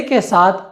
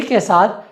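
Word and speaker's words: casa: अगला नियम ये कहता है कि अगर हम से को आ के साथ प्रयोग करेंगे तो हम सा नहीं कहेंगे, हम उसे का कहेंगे।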